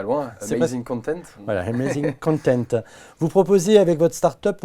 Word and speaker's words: Amazing Content: Si vous voulez le prononcer à l'américaine, allez-y, moi je ne sais pas bien faire. Ah, c'est pas loin, C'est Amazing Content. Voilà, Amazing Content.